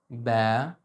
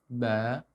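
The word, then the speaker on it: ب: First, keep a slight smile when you pronounce it, or any Arabic letter. Ba, not ba, ba. No, no, no, this is wrong. Please smile. Ba, ba. Perfect. Second thing, I want you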